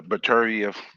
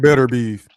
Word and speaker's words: Beterbiev: Like the whole the Beterbiev. I'm gonna pronounce his name correct. Beterbiev. Man, we call that nigga Better Beef. I know, but it's Beterbiev. Yeah, I know.